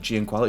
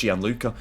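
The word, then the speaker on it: Gianluca: Why have I said Gianquala? It's Gian Luca.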